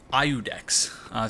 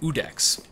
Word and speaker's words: Iudex: So even though I've been saying Iudex since I started playing this game, it's actually pronounced Iudex. So I guess you just don't pronounce the I.